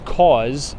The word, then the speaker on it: Kaws: The artist's name is Kaws. I think you pronounce it or spell it K-A-W-S, I believe, for Kaws.